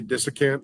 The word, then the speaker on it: desiccant: What is the right way? Desiccant. Desiccant? Yes. Yeah. You don't diss it.